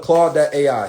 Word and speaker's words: Claude: we're gonna go to claude.ai so this is the one that I think is actually good for right claude.ai is the best Ford so Claude is spelled c-l-a-u-d-e like van clauden claude.ai this is game